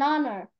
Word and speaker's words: honor: f here and Hunter H is silent here so how do you read that one Alonso if H is silent come again an honor okayy go go an